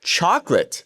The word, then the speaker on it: chocolate: So, we have chocolate, and in Spanish, based off of what I just told you, a e i o u, we would have cho co la te cho co la te.